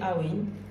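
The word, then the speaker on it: Awen: Donc Awin, c'est comme Amen. Vous pouvez le prononcer Awin. A-W-E-N.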